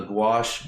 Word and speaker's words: gouache: by this is called the gouache by mosh i know it it rhymes so slight bar is